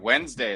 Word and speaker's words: Wednesday: that's how they teach kids how to spell wednesday is saying pronounce it wed knows wednesday english language